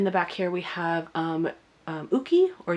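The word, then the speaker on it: Yuqi: And then in the back here we have Uki or Yuki from G-Idol. I'm not sure. I think I hear more people pronounce it Uki.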